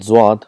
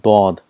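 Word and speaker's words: ض: For example, for Zwad, in Urdu it's called Zwad, but in Arabic it's called Dod. There's a lot of difference between Zad and Dod, so we have to practice that.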